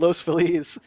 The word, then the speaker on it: Los Feliz: called Los phiz and I call it Los phiz because you know Feliz Navidad that's the that's the you know everyone knows how to pronounce Feliz it's Spanish word La people uh I guess La people say Los FIS Los felis and then and then and then you say Los Feliz and they look at